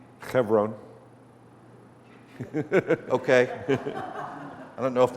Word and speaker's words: Hebron: How was that pronounced? Hebron? Chevron.